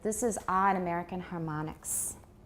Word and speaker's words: harmonics: But how do we usually pronounce an O in isolation? It's got no final silent E, and it's not part of a digraph. It's not like OA, for example. If it's just an O, a plain old O, and it's got a consonant on each side, how do we usually pronounce that in American English? We pronounce it like ah.